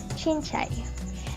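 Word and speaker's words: cincai: This word is pronounced as chinchay.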